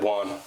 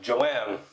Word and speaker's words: Juan: your name I said one uh I said one and they're like how do you spell that and I'm like j-u-a-n and they go Joanne no it's not Joanne because as soon as